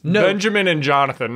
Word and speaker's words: Jonathan: Jonathan's name is spelled J-O-N-A-T-H-A-N. There is no first H. It's not like John the name.